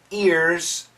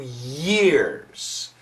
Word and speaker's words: year: Sometimes, for some students, if you say the words separately, it sounds like ear and not year.